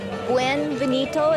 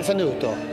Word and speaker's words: benvenuto: Welcome to Folklorama Week 2, Buonvenuto, is that how we pronounce it? Benvenuto.